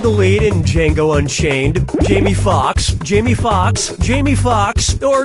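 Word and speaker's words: Foxx: lead in Jango Unchained Jamie Fox Jamie Fox Jamie Fox or Jamie Fox no no I'll get this Jamie Fox's last name has two x's in it the first x is silent step right up to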